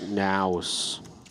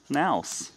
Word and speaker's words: NAOS: I think it's pronounced Naus. Oh, okay. Naus.